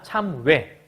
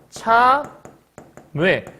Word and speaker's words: 참외: 그러면 참외 어떻게 발음하는 거냐면 말 그대로 이렇게 요거를 이어 발음해야 되니까 참외 이렇게 발음을 해야 되거든. 발음은 요게 첫 발음인데 얘를 이중모음으로 발음할 수 있기 때문에 이렇게도 발음할 수 있어. 참외 이렇게 발음할 수도 있어.